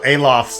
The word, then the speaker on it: Aloth: Also, Aloth's name is pronounced Aloth. As you just heard Pelaginus pronounce, so apologize for my slight mispronunciation.